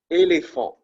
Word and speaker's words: éléphant: You pronounce it similar to the letter A in English, right? Éléphant.